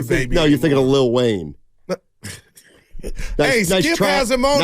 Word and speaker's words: Lil Wayne: And Little Wayne on Fridays. I think it's Lil Wayne. What'd I say? Little. I thought you had your ear to the streets. I think that's the way it's pronounced.